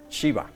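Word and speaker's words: Gxiba: un satélite mexicano que se llama Chiva. ¿Lo habían oído? No. Bueno, pues ya lanzamos una chiva al espacio. Se llama, se escribe muy raro, G X I B grande A. Ghiva, pero se pronuncia nada más Shiva.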